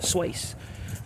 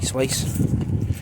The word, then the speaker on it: Swace: Well, those who might follow Suzuki on Facebook, last night they announced a new model called the Swace. I think it's pronounced Swace or Swace, probably Swace.